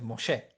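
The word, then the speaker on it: משה: hey son 33 consonantes moche como se suele leer porque el h final nunca se escucha no nunca se pronuncia no sé en realidad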